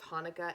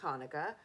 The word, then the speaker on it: Hanukkah: Actually, both Hanukkah and Hanukkah are right. The holiday's name is Hebrew, so there are different ways to spell it and say it in English. Hanukkah with an H, Hanukkah with a CH.